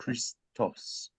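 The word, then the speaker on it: Χριστός: and here's that letter the cry that that lock sounds yep it's a Christos Christos Christ the Christ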